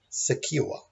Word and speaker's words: secure: pronounced the same way the first word is secure so the first e is a schwa it doesn't always quite